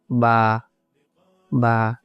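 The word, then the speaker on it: ب: দ্বিতীয় যে হরফটা আমরা দেখতে পাচ্ছি, এই হরফটা হলো বা। বা, এই হরফটা হলো বা। বা উচ্চারণ করতে হবে দুই ঠোঁট দিয়ে, বা বা।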